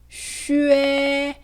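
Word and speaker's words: xue: 슈에. 네, 이 발음을 수에라고 읽으면 틀리게 됩니다.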